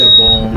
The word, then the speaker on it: Gabon: But they pronounce it Gabon. Yeah. Well, that's the name of it in French.